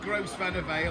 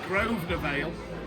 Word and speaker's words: Grosvenor Vale: You know, in terms of the pronunciation, because yeah, it's not Gross Vanner Vale. I've been teaching you all week. It's Grosvenor Vale.